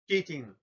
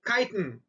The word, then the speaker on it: chitin: cells it's made of kitten oh i mean mispronounce the word my apologies instead of say it in kitten i should have saved chitin so the fungal cells